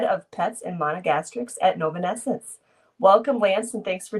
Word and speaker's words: Novonesis: Novonesis, new company, new name. You've pronounced it correctly, so thank you for that.